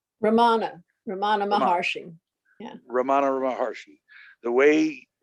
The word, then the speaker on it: Ramana Maharshi: Ramana Maharshi.